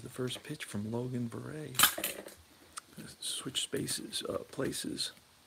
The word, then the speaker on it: Verrett: Clemens was 4-5 with a 4.04 ERA, and Logan Verrett, and he's from Texas, so it's pronounced Verrett, um, and he was 3-8 with a 5.20 ERA.